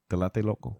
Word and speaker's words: Tlatelolco: Tlatelolco.